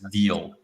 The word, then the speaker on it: Deel: software stack to Oyster, such as Deal. It's spelled Deel. Got it.